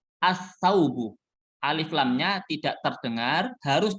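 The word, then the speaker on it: السوق: yang kedua baju jangan bacanya Al sauhu Al saugu jangan ini salah Tapi bacanya as-saugu Alif lamnya tidak terdengar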